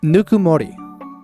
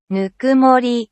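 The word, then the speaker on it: ぬくもり: I wanted to name it Nukumori. I think that's how it's pronounced. Nukumori.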